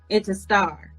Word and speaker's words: Incentar: Incentar, of the R on the end. Incentar.